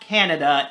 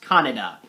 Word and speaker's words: Kaneda: best friend canada and no it's not canada it's pronounced canada and i may butcher